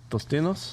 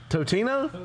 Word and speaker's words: Totino's: Tostinos. You're not saying that right. How do you say it? I don't even know how to say it. There's no S in there. Tostino. There's no S. Totino.